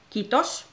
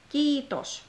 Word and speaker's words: kiitos: it's kiitos. Kiitos. Not kitos or kitos. No, it's kiitos. Long E.